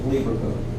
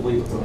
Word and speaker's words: Lieberkühn: Crypts of Lieberkühn. This is a German word, Lieberkuhn, and to spell it correctly, you have to put this thing with 2 dots on top of the U.